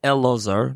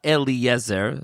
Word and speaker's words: Eleazar: We should start off mentioning that his name is Eleazar not Eliezer.